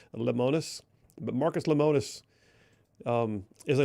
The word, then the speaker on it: Lemonis: name of Marcus, and I'm probably doing a disservice to his last name, but I believe it's pronounced Lemonis.